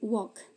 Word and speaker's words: walk: Answer, silent L. Walk. Dibacanya bukan walk tapi walk.